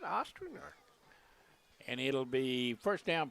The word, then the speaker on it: Ostrander: How do you pronounce that name? Ostrander. You're right, Ostrander.